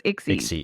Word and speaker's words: Ixi: It's Ixi. And so so it's pronounced like pixie, but it's it's without the P. So it's Ixy.